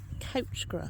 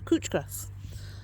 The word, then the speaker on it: couch grass: Couch grass. Cooch grass. Always called it couch grass and then somebody else told me I was saying it wrong. So cooch grass.